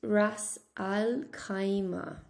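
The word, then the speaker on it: رأس الخيمة: In English, it's pronounced Ras Al Khaimah, but in Arabic, it's quite different. Ras Ul Khaymatin? Rasun al-Lukhaymatin. Rasul al-Lukhaymatin. Rasu al-Lukhaymatin.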